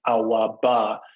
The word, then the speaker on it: Awabah: the battle of Awabah, but it's actually pronounced Awabah, which is Pidgin English for our money. So Awa is O-U-R, our money, Ba is money.